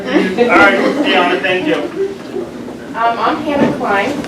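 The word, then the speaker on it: Dianna: Oh, so it sounds, looks like Diana, but it's Diana. But with 2 N's.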